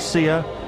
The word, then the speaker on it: Sia: How do you pronounce it? Sia.